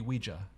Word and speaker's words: Ouija: Because it's spelled Ouija. Uh-huh. That's how you say it. But I feel like most Americans say Ouija, Ouija. Uh-huh. like it's spelled IE.